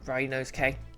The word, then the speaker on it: Ryunosuke: I need to remind myself, his name is pronounced Ryunosuke.